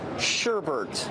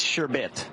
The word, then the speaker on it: sherbet: this one sure bet sure bet it's sherbet I bet you didn't know that I didn't know that either but all of America's pronouncing it in properly all right sir what's